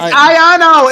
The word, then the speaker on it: Iono: It's Iono. It's positive and negative ions.